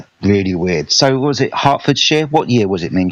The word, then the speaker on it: Hertfordshire: think Hartford share with me name Hartford share say sure again Hertfordshire the moment I said Shire I said oh my God I said it wrong what am I doing